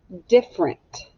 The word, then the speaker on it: different: here's the first one different different let's write the word different d i f f e r e in t different now this one's tricky because we don't really say the e sound different different we don't